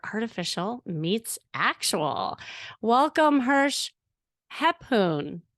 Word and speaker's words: Rephun: actual welcome Hirsch hepoon did I say it right but you have to unmute yourself unveil yourself all right I will say it again the last name how did you raphoon yes that's correct oh my God I